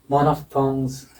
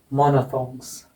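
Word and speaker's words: monophthongs: मोनोफ्थोंग, मोनोफ्थोंग्स है ना, मोनोफ्थोंग्स। और एफ को हटा दो चाहे, मोनोथोंग्स, मोनोथोंग्स, मोनोफ्थोंग्स या मोनोथोंग्स, इसका उच्चारण हो जाएगा डिफ्थोंग्स या डिप्थोंग्स।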